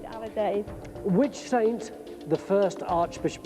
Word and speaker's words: alidade: The hand movement was right, the word was wrong. It's the Alidade. Alidade.